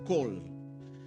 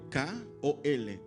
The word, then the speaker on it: kol: El vocablo para sonido, donde dice oía el sonido de sus alas, es kol. Por su transliteración del hebreo al español se escribe K-O-L, kol.